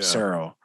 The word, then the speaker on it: Cyril: Now, how you pronounce his first name again? Cyril. Yeah. Cyril.